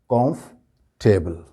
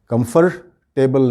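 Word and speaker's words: comfortable: से लिखी जाएंगी, लेकिन बोलते वक्त ये लफ्ज़ जो हो जाएगा कॉम्फर्टेबल, कॉम्फर्टेबल, कंफर्टेबल नहीं होगा।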